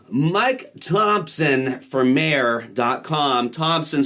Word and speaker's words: Thompson: T-H-O-M-P-S-O-N. Don't forget the P. Sometimes people think it's son of Tom, but yes, there are a couple ways. There's like three. Right. It's the British way. It's pronounced thump.